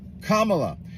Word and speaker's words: Kamala: Kamala. If you really want someone to listen to what you're saying, you should probably pronounce their name right. Period, question mark, hyphen, comma, la. Kamala.